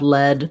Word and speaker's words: lead: lacs high front vowel and lead like a leader has my e vowel that's my tense high